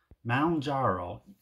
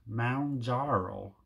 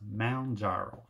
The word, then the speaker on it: Mounjaro: and I have completed my week 20 on Mount jaro yes if you watch my last week's video